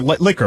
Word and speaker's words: Licker: You know, Ryan Licker, our intern over here, Licker, right, is how you say it, has been what with a great us.